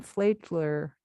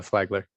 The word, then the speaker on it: Flagler: and his undergraduate from flaidler college in florida sean if you'll correct that name of that college i'm not sure i pronounced it uh it was it was close enough uh flagler okay it was good